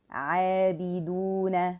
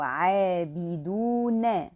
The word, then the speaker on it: عابدون: I have to just satisfy the short vowels fatha, kasra, and dhamma and pronounce the whole word lightly because all the letters are light, and try to articulate the ayn properly from the throat.